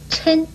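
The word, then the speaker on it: 抻: 但是这个舔字呢又可以念嗔，国语注音是施恩嗔一声嗔，嗔是拉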